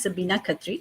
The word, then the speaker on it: Sabina Khatri: My name is pronounced Sabina Khatri. A lot of times, a lot of people don't pronounce it well.